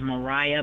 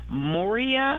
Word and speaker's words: Moria: I thought her name, the talent, I thought her name was Mariah, but Moria, I think she pronounced.